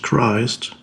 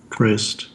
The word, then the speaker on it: Christ: Christ, in English, it's pronounced, when it's by itself, it's of course pronounced Christ, Christ.